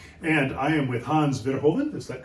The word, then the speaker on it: Verhoeven: Today, I'm in Amsterdam, Netherlands on a very blustery, rainy day, and I am with Hans Verhoeven, is that correctly pronounced? Almost. Hans Verhoeven. Verhoeven. Correct Dutch.